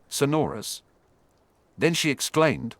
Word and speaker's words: Sonorus: So it's flick then touch the object or person to be amplified while saying Sonorus with the accent on the second syllable.